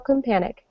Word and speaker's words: Companik: V and we have Rachel companik actually is that how you pronounce your last name that is how you pronounce it yes yay awesome Rachel